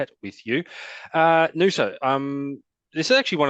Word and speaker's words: Noosa: It is new, so I've got that right. I I did have a very poor pronunciation. gong for a while but I got there in the end. Yeah, definitely Nusa. Yep.